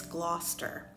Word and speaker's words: Gloucester: ps where i'm from we call this gloster i think it's pronounced so differently in different areas but that's the way we say it where i am at the moment the